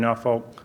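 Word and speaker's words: Norfolk: this week the Chrysler Art Museum here in now vault as I've learned it's pronounced these exceptional they've just got an incredible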